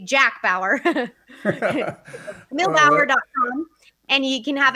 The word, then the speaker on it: Bauer: It's Kamille, Kamille, and then Bauer, B as in boy, Auer, like Eddie Bauer. Or if you were a 24 series fan, I say Jack Bauer.